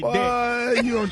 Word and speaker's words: debt: The B is silent when you say debt.